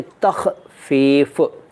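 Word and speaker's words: تخفیف: ने पूछा है कि तख फफ का क्या मतलब है पहले तो इसका उच्चारण तख फफ तख फफ का मतलब होता है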